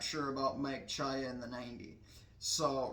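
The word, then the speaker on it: Czaja: So but uh this is uh Mike uh Chia in uh in the 90 car. His last name is pronounced C C Z C CZ AJ A. So Mike Chaya, which is really interesting pronunciation of the word.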